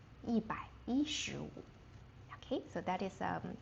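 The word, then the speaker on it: 一百一十五: We don't say yībǎishíwǔ. We pronounce the one. So, we say yībǎi yíshíwǔ. yībǎi yíshíwǔ Okay, so that is um revision from last week's um revision.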